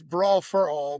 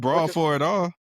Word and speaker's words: Brawl for All: It's not You didn't say it right. All right. Brawl. You didn't say it. It's brawl for all. He said brawl for at all.